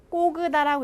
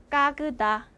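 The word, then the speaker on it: когда: 그래서 꼬으다라고 읽지 않 읽히지 않고요. 강세 없는 아처럼 읽혀요. 그래서 까그다 까그다 이렇게 읽히겠죠?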